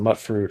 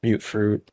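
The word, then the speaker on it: Mutfruit: over here got some mut fruit or mute fruit depending on how you like to pronounce it that's okay though that's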